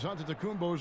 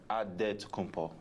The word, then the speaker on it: Antetokounmpo: The Nigerian way, you gotta say with a D, so it's Antetokounmpo. But in the Greek way, you say with the NT, like Antetokounmpo.